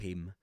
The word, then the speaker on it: him: In that case, you don't pronounce the ha there. To help him.